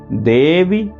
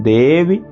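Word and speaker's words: देवि: यहाँ देवी छोटा है तो वी जल्दी बोलना है, देवी जननी परा। लय से बोलेंगे, अर्धमात्रा स्थिता नित्या यानुच्चार्या विशेषतः त्वमेव संध्या सावित्री त्वं देवी जननी परा। ये देवी संबोधन का रूप है, इसलिए ह्रस्व है यहाँ पर।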